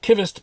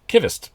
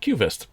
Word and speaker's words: Qvist: kittist blade works and i do know it's pronounced kivist because the guy who runs the place jacob lonquista sent a letter along with this prototype that said at the bottom it's pronounced kivist so i've always said cuvist but i've been